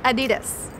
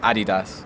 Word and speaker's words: Adidas: So in the US, they say Adidas. And we say Adidas. Like the German way. You say it correctly. We say it correctly. Thankfully. It is a German brand, right?